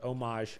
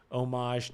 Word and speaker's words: homage: pays homage to the or homage I don't think you pronounce the h homage to um Dark Souls